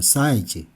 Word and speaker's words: 사이즈: 사이즈 인데요 사이 지죠 그런데 영어로는 사이즈로 싸 이 즈 그래서 글자는 사이 지금 썼지만 발음할 때는 싸 이 즈 락 5 발음합니다 싸 이 즈 싸 이 즈 이렇게 읽어주세요 싸이 즉 싸 이